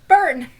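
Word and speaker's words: Bern: is a small city called burn like the song in Hamilton yeah exactly like the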